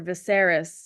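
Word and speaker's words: Viserys: right right SAR sarus that's right named after viseris named after viser viseris and the viseris before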